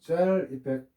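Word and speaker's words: gel effect: 그래서 점도가 급정하는 거를 혹시라도 시험에 나오면 이거 겟이라고 옛날에 읽었는데 젤이라고 읽어야 되겠죠. 젤펙트 계상중하면 젤펙트 꼭 기억하시고요.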